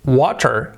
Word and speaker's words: water: so let's for example when we say um water water water if you listen to an american person special american person american person but also british people make this sound they transform the t sound in a soft in a soft r that sound it would be kind of a d an english d so